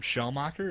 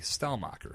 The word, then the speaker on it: Stelmach: last week's podcast when I called him shell mocker his name is actually style mocker so my bad my